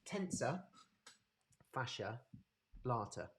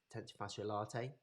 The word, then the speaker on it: tensor fasciae latae: your tfl um so we've got tensor fascia blarter okay or tentifacio latte however you want to pronounce it uh the tfl the tensor fasciae latae is the tensor so